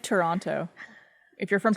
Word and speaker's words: Toronto: It's like Toronto. If you're from Toronto, you go Toronto. Toronto. The second T is not pronounced. it doesn't exist. It's silent.